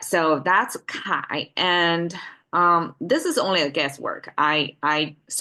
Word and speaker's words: 铠: Okay, according to scholars, Kai is the right side pronunciation, and it is the celebration of a victory of this your army.